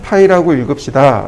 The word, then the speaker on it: 파이: 지름을 표시할 땐 이렇게 파이 표시를 합시다. 읽기로는 파이라고 읽읍시다.